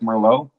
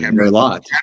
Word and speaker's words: Merlot: I thought it was Cabernet and Merlot. Yeah. But like David Sabat. That's why they're always laughing at me. Check out. The T is silent. It's French.